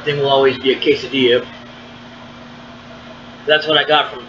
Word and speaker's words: quesadilla: quesadillas I can't remember I believe the quesadilla is actually spelled like quasi Jello or whatever but it's actually quesadilla and uh so anyway